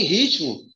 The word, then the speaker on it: ritmo: Só que ritmo, eu tenho um erro aqui. Qual é o erro de ritmo? Ó, ritmo. Onde está a sílaba mais forte de ritmo? Está no ri. Ritmo.